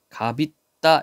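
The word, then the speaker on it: 값있다: 있는 말 앞에서 자, 겹받침 중 하나만 뒤음절 첫소리로 옮겨 발음한다. 갑있다 이렇게 되어 있죠. 그쵸? 있다. 뜻이 있는 말 모음으로 되어 있어요. 그래서 여기는 앞에 것만 뒤로 옮겼네요. 앞에 것만. 그리고 시옷은 발음을 안 했어.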